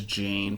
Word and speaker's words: Jane: And I think it's spelled in like the listings as Jane, but they definitely said Jan.